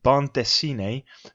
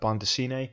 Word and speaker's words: bande dessinée: And this is known as, I think my pronunciation, let's see if I can get it right, bande dessinée.